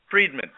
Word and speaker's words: Friedman: your what you say your last name was Freedman how would you spell that f r i e d m a